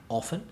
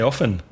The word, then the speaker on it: often: Often or often? I say often. I pronounce the T, but I know you don't. I say often.